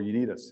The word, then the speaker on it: UNITAS: The second one is what we call UNITAS, or UNITAS, if I pronounce it from Columbia standpoint.